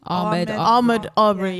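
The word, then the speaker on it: Ahmaud Arbery: how do you pronounce his name? Ahmed Aubrey.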